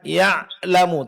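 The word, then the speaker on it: يعلم: Nah, jadi perlu diperhatikan pengucapan ain sukun, suara tidak terlalu ditahan, tidak pula terlalu dilepaskan, tapi pertengahan.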